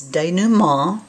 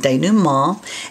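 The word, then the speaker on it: dénouement: to you about is denu ma did you hear the nasal on that day new mall and it's spelled d-e-n-o that's a french word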